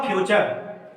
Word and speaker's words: फ्यूचर: तो दोस्तों एफ यू से फ्यू हुआ और आर ई र हुआ, अब बचा टी यू, तो टी यू को हम च पढ़ते हैं, तब हुआ फ्यूचर।